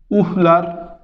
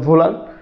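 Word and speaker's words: Wöhler: পরবর্তীতে জার্মান বিজ্ঞানী ফ্রেডারিক ভোলার, ফ্রেডারিক ভোলার, ভোলার এটা বানানো হচ্ছে এরকম উহলার, তো এটা জার্মান উচ্চারণ ভোলার।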